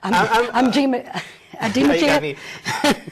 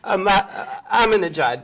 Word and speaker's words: Ahmadinejad: Because they have a loose cannon, the president of Iran, pronounce his name. Ahmadinejad. Ahmadinejad, but Ahmadinejad.